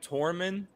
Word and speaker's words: Tormund: different language yeah did i say it right tormund yeah tormund would be the one to do